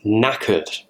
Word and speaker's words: knackered: And the reason why was because I was knackered. Knackered, it has a funny spelling. It doesn't really sound how it's spelt.